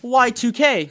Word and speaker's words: YIIK: don't know about that mr crow that said y2k kiss you're confused by the font choice in